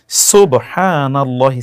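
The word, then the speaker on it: سبحان الله: সুবহানাল্লাহি scene এর উচ্চারণটি শুদ্ধ যেন হয়।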